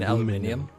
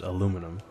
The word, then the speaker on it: aluminum: You mean aluminium? No, it's definitely pronounced aluminum. I don't know, there's that extra I there, aluminium?